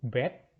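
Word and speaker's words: ב: Kemudian huruf berikutnya adalah huruf bet.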